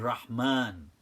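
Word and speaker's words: رحمن: they forgot that because you don't write the Aleph in Rahman but you pronounce it so it is there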